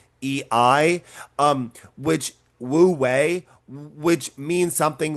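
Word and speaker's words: wu wei: Um which typically uh is called wooi. That's w u hyphen w ei um which wooi which means something like acting by inaction or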